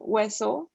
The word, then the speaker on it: hueso: And then there's H, so it's silent, hueso.